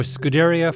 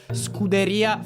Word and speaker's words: Scuderia: of Fan Development for Scuderia Ferrari HP. Your pronunciation is strongly American. It's more Scuderia Ferrari. I'm still working on rolling my R's.